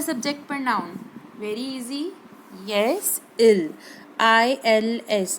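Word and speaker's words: ils: pronoun very easy yes ill I LS I told you we don't pronounce s at the end uh in French language right that is always silent so it is ill then verb is s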